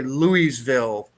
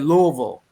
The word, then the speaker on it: Louisville: to you want to make a kentuckian mad say louiseville louisiana it's the same thing as new orleans you said louisville yeah how about maryland